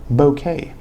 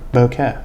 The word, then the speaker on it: bokeh: Check that bokeh in the background, which I just recently learned is actually pronounced bokeh. Bokeh. Sorry, bokeh. It's a Japanese word.